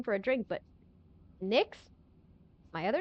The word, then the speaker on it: Nyx: I would have is not the name of a good not a really good name for a drink, but Nyx.